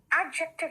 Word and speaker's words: adjective: एडजेक्टिव नहीं कहना बेटा, एडजेक्टिव कहते हैं इसको। यहाँ डी साइलेंट है, ठीक है?